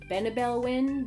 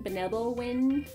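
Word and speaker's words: Benebell Wen: a workbook this is I'm going to mispronounce her name because I've never heard it said out loud it is b e n e b e l l when w n benel Win benel Win benel Win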